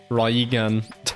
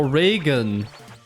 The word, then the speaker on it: Raigan: Okay, you also say the Ray part differently? Oh. So it is actually Rai. Or is it Regan? Oh, Reagan. Like Ronald Reagan.